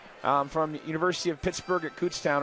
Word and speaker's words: Kutztown: University of Pittsburgh at Kutztown or Cutstown, depending on where you're from and how you pronounce it.